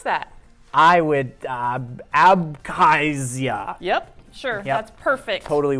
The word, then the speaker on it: Abkhazia: how do you pronounce that? I would Abkhazia.